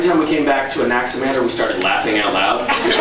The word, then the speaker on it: Anaximander: Spelled the normal way -- yeah, it’s -- it’s pronounced a lot like it’s spelled.